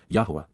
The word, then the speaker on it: Yahweh: respectful and perfect jph Yahweh yah the proper pronunciation of the name of eloah God as directed in his